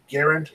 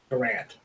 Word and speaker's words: Garand: of his name, And he responded and says it's Garand, like errand, instead of Garand.